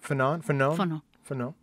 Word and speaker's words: Fanon: Fanon. It's French.